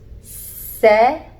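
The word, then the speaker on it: 셋: Yes, this is an S sound, but this is pronounced set, set.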